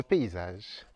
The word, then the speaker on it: paysage: et pour terminer le paysage l paaré attention chaque lettre se prononce paysage simplement magnifique perfecto amigamp